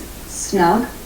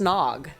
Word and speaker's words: snog: Kiss is snug. How'd she learn that? I'm pretty sure it's pronounced snog. That's what it sounds like, and she says, She says snug.